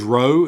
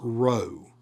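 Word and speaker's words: ρῶ: Your magiscule also looks like our capital P. But it does not sound like that. It this is row.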